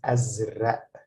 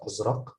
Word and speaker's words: أزرق: So that's why we pronounce this azra, azra, as if it's written like this, as with this hamza. Okay. So azra, azra. We don't pronounce it azraq.